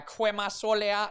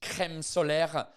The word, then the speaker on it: crème solaire: about the fact that my daughter at some point sounded like a Guadeloupean lady trying to say sun cream, going la crema solaire, la crema solaire. Here's the thing. She does now pronounce crème solaire correctly.